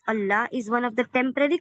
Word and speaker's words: Allah: Lam, pronouncing heavy lam of the exalted name of Allah is one of the temporary qualities tafkhim explained in details later inshallah.